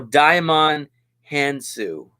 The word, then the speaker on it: Djimon Hounsou: Oh, Djimon Hounsou. That's how you pronounce it.